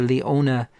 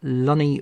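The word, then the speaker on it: Leonie: And also congratulations to Leona or Lonnie Murphy. I hoping I'm pronouncing your name correctly. It's Lonnie, I think. L E O N I E. Um or Leone. Leone Murphy. I hope that's the correct pronunciation.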